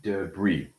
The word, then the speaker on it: debris: Debris. But it's only because they come from a different language.